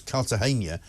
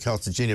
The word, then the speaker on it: Cartagena: And, I mean, far be it from me to correct you, but I think the correct pronunciation for Cartagena is Cartagena as opposed to Cartagena.